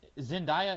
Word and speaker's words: Zendaya: Zendaya, is that how you pronounce her name?